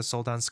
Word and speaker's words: Soldans: Soldan says, "Yeah, hi, kudos for pronouncing the Soldans correctly. Most people miss the end S.